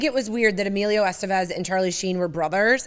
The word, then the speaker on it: Estevez: I've always said his name wrong. So in the documentary, they're like, Emilio Estevez. I always said Estevez.